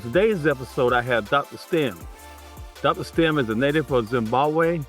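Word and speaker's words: Stembile: So it's pronounced stem which means there are many silent letters in there.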